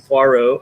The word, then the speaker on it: Poirot: it's been patriot and it's been pot roast poi rot poi rot which that one that one okay